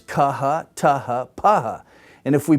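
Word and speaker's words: χ: And so these are the letters, kaha, taha, paha. And if we put it in English, the first one would be like if we put the K and H together in blockhead. kh, blockhead.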